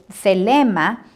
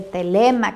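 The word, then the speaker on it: θέλημα: Ahora aquí la palabra selema, que es en griego, se refiere al deseo, a querer o determinarse a hacer algo.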